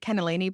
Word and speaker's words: cannellini: butter beans or cannellini, that's how you say it, cannellini beans.